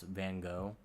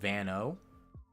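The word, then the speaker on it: Van Gogh: It has the horrible hard G sound like the Dutch language has.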